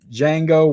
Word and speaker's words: Django: Let's good D is silent mother. Agreed. Django win.